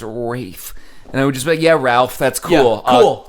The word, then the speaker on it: Ralph: like choosing to print just mispronounced Ralph if I ever was in New York City interested le any word I'm like oh my god that's ray Fiennes at the table next to us we're the making Fox I don't know who he's with yeah but I would walk over hey Ralph okay shake your hand and you look at me no and names my name is Rafe yeah Ralph that's cool